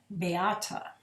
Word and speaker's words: Beáta: My name is unusual, and the reason there's an accent over the A is because it helps Americans understand that there's 3 syllables to my name, not just 2. So it's Beáta.